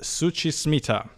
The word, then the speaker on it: Suchi Smita: Alex here, and I'm here with Suchi Smita. Hi. Is that correct? Yes, perfect. Thank you for pronouncing it correctly, no, because people struggle.